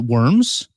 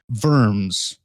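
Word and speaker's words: wyrms: it's spelled w-y-r-m-s um you can pronounce it worms or verms with a v oh it's very german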